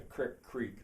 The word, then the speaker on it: Creek: And I want to say something about the krik business. Later on, I'll probably do a whole video on Creek. It's spelled C-R-E-E-K, true. But most people who live in Plum Creek, not all, call it Plum Creek. And in Roaring Spring, there's a mix. Some call it creek, some call it creek.